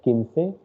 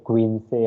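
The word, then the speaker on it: quince: k of english and when q u i comes it becomes key okay so that's why it is kinsey don't say queen say or anything other like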